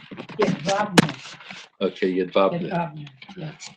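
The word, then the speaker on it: Jedwabne: Yadvabne.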